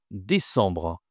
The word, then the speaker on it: décembre: 12e mois, c'est décembre. Toute façon, c'est pas décembre, c'est dès décembre. Ici, on a encore toujours une nasale. La nasale en qui est très très importante en français.